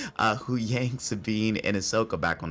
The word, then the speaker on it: Huyang: we meet back up with the crew of huyang um I got the name right this time because I always get a lot of criticism about I keep mispronouncing names uh who Yang Sabine and Ahsoka back on the ship as